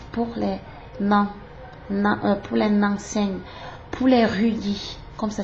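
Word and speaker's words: Ruyi: 056 ou 079 pour les Nanseng, pour les Rudy, comme ça s'écrit R-U-Y-I.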